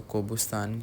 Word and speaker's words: Gobustan: यह पहाड़ है और इसको हम तो गोबुस्तान कहेंगे लेकिन उनकी लैंग्वेज में इसको कोबू स्तान करके प्रोनाउंस करते हैं खैर वहां पे मुझे